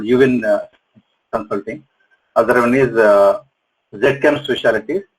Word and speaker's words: ZChem: Other one is ZChem Specialties, which is called in American Z. So we call it ZChem Specialties.